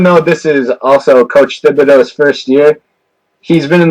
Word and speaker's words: Thibodeau: Coach Thibodeau, and we call him Tibbs for short.